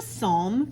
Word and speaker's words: psalm: this is a psalm prayer the p is silent and we're going to